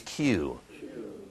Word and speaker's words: queue: anybody know actually Q the pronunciation is Q what is a Q